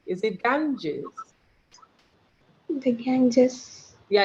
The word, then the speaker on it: Ganges: Did I pronounce it correctly? Is it Ganges? The Ganges.